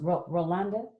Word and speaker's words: Rolande: Your name is pronounced Rolanda?